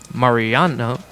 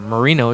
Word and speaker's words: Marino: as number 24 madx Marano will lead off or Marino excuse me keep saying his name wrong want to say Marano with Marino it's okay we all